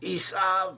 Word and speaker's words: Esau: Esau, pronounced Esav or Esav in Hebrew.